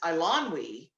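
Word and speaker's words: Eilonwy: that i discovered that one of the major characters is ilonwi did we did we know this that that was how you pronounce her name this is the major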